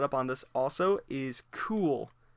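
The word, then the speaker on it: Kühl: on this also is cool. Believe that's how you pronounce it. K U HL. And the U usually is two little dots.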